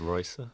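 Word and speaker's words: Rayssa: Racer Leal, am I pronouncing that right? Probably not. I think it's Ricer. Ricer. If you're in Brazil, depends.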